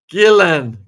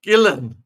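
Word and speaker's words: Ghislaine: Gillan. Get it, folks? Gillan. Gillan. Gillan. Gillan. That is how it's pronounced.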